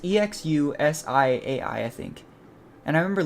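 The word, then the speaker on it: Exusiai: first guess was like exusia or something like that I think the English voice actor pronounces this like exusia and then I know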